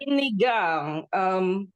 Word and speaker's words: sinigang: Sinigang.